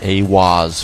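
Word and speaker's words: Aiwass: Aleister Crowley meditated inside the Giza octagram and channeled the divinity Awaz, pronounced Awaz, furthering the immutable connection between channeling divinity and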